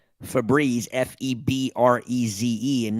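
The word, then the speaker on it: Febreze: FZ no it doesn't the e at the end of it would make it a long e sound what e consonant e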